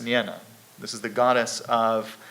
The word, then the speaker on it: Nienna: But in addition, he spent a lot of time with, I believe her name is pronounced Nienna.